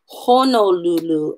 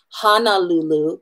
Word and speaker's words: Honolulu: pronounce our a right so we want to make sure we're saying Honolulu and not Honolulu because we've just changed the meaning of the word completely another one is a